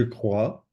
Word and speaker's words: crois: So again, pronunciation, we have to practice a little bit that, but you can see this OI is a wa sound.